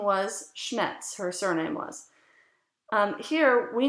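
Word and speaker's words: Schnetz: elizabeta it's written s-c-h-n-e-t-z-i-n so her name was schmetz her surname was here we know just because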